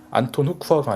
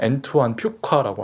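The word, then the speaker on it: Antoine Fuqua: 사족이긴 하지만 정확한 발음은 안톤 후쿠아가 아니라 엔투안 퓨카라고 합니다.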